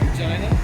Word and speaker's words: Regina: Regina. Oh, yeah. A city that rhymes with fun.